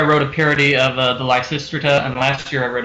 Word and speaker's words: Lysistrata: This year I wrote a parody of the Lysistrata, and last year I wrote a parody of the bird. Huh. Michael, I never read them. Also, I think it's What? pronounced Yeah, I Lysistrata.